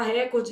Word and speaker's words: recorde: Deixa o povo falar recorde, isso aí é bem tranquilinho. Só na sua prova que você precisa saber que o certo é o quê? Recorde, porque essa palavra é paroxítono.